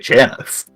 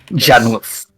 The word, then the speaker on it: Janus: Wait, Janice. Jan Janice. Oh, okay. spelled with a U. Janus. Yeah. Janus. Yeah. Not Janice.